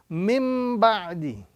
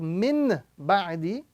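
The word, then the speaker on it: مِن بَعْدِ: So we are now going to be reading mim ba'di. Instead of min ba'di, we are now going to be reading mim ba'di.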